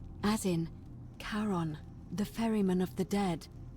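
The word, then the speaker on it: Charon: Oh, it's just as you described it, only your pronunciation is a little off. The name you heard wasn't Karen. It was C H. I knew it. O N. As in Karon, the fairyman of the dead.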